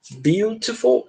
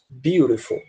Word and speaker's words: beautiful: duas formas de pronunciar você pode pronunciar beautiful com esse T aqui bem enfatizado né beautiful ou você também pode pronunciar beautiful tá com esse T com som de R então As duas pronúncias são corretas a gente tem o